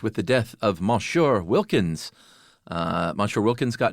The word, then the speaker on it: Monsieur: It How do you pronounce it? Monsieur. Really? Why is it m o n? Is that all silent? It's just the French doing their French thing.